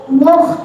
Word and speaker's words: مخ: الذي هم فيه مختلفون মোটা হরফ যখন বলবো তখন মুখটাকে সামনে নেব, ঠিক আছে? সামনে নেব মুখটা, এরকম। মুখ مختلف মুখ মুখ এরকম না, মুখ এরকম না, সামনে যাবে মুখ। مخ হ্যাঁ, মুখ مخ মুখ।